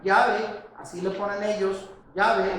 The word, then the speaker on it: Yahvé: Según la enciclopedia Wikipedia, Yahvé, así le ponen ellos, Yahvé es según ellos y el consenso académico, la pronunciación más probable del tetragramatón.